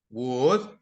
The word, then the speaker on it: would: don't pronounce the L would we don't pronounce the L and in could we don't pronounce the the the L so the L is silent and it sounds something